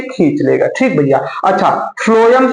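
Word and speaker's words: phloem: तो देखिए, फ्लोएम, फ्लोएम एक बार आप खुद से बोलिए, फ्लोएम। तो फ्लोएम में स्पेलिंग भले पी से शुरू है लेकिन लगता है यफ से शुरू है, फ्लोएम।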